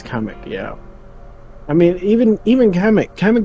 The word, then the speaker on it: Kamek: Oh, it's Kamek.